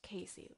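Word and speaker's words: CACI: it spelled CCI and pronounced Casey like Casey Anthony second set of jury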